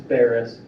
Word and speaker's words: Ferris: Is it pronounced Ferris? Faris? How do you pronounce that? It's Ferris. Ferris?